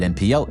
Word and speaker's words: NPL: his name, is it NPL? Is it nipple? He has publicly stated that it's supposed to be nipple, but say it how you want, that's fine.